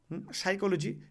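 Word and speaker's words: psychology: যেমন আমরা সাইকোলজি পড়ি। সাইকোলজি পি দিয়ে শুরু হচ্ছে। পিটা আমাদের সাইলেন্ট থাকে।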